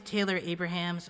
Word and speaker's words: Taylor Abrahamse: Hi there, my name's Taylor Abrahamse. I'm from Toronto, Canada. That's how you say it up in Canada, guy.